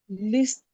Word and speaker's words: listen: Listen. Listen. The T is silent. So you do as if the Okay. T is not there.